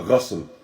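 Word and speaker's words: غسل: And the Ghusl, first and foremost, you have two reading or two ways to pronounce this word. When you have the ghayn, the sin, and the lam. So you have the ghusl and you have the ghasl.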